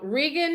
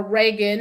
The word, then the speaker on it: Regan: So anyhow, Regan, it's R-E-G-A-N, here, R-E-G-A-N, or Reagan, as we pronounce it in the States, Hillyer, Regan Hillier.